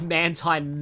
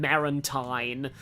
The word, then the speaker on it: Mantine: I used to pronounce Mantine Marantine, because I thought it was a pun on, Manta Ray and Maritime, which, to be fair, it probably still is.